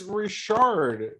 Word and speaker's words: Richard: official no it was Maurice Richard not Richard oh yeah that's how he says his last name that's in English how do you say